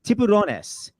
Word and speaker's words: Tiburones: It's pronounced Tiburonnes.